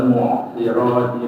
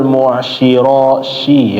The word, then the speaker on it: المعصرات: Ya, wa anzalna minal mu'sirati ma'an sajjaja. Bagus ya. Tadi bacanya pakai shin. Wa anzalna minal mu'syirashi ya tadi bacaannya. Seharusnya so ya.